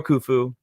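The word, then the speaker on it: Khufu: But, uh, it was for, uh, Pharaoh Kufu. I think it's how you pronounce it.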